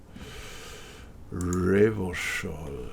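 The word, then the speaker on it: Revachol: something wasn't that something else classy reversal is pronounced reversal river shawl we can't just go through there or can't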